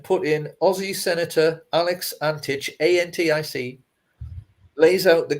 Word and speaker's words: Antic: man's father is yugoslavian it's spelled a n t i c but i'm going to pronounce it antich because i i think that's the correct correct yugoslavian pronunciation it seems we may